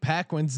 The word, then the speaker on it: Paquin: Two, I need you to continue to pronounce my friend Jake Paquin's name incorrectly.